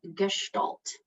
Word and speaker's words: gestalt: i'm just gonna say it for you so gestalt hopefully uh there's a bit of a in